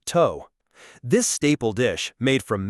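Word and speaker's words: tô: Let's begin with Burkina Bay meals to pronounced toe.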